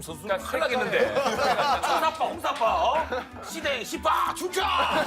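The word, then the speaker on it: สีแดง: 근데 그게 뭔가 순간적으로 헷갈려서 내가 태국어로 나와버리는 일이 있었는데 빨간색이 발음이 시댕. 너 너무 준혁이 형 얼굴 보면서 하는 거 아니야? 나한테 감정이 있었어. JYP 보내야지. JYP 뱀. 시댕? 시댕이 빨간색.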